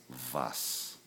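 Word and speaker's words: was: W in German and the letter W is pronounced remember as the letter V okay so we have what and that's vas like V is D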